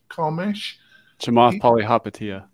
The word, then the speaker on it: Chamath Palihapitiya: How do you pronounce the gentleman's Carmesh? Chamath Palihapitiya.